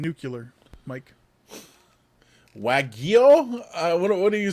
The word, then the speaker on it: wagyu: how to pronounce it i'll say weigoo beef but that's not how you pronounce it so sure reverse the g and the y yeah i don't like